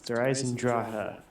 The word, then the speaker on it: Eisendrache: That's how you say it actually. It's Eisendrache. Drache. Eisendrache. That's how they say it.